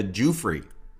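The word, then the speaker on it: Giuffre: 99 gelane has her first encounter with virginia jewfrey that's the way you pronounce it jewfrey and so that is the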